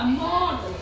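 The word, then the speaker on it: knot: पहले जो के आया वो हमारा क्या होगा साइलेंट होगा नॉट के ए नॉ इसको हम बोलेंगे नॉट अग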